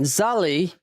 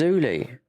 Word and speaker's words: Zully: when she jumped into his chat and he went, Zully. I was like, what? Don't you know to get pronunciations right? Because it's spelled Z-U-L-L. I said, no, it's always Zuli.